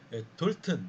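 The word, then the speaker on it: Dalton: 자, 그 다음에 나오는 주제가 돌튼. 제가 돌튼이라고 발음하겠습니다.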